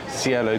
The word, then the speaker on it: Cielo: same menu but at scale how do you pronounce the name of the dining room cielo dining room which um lovely we're near a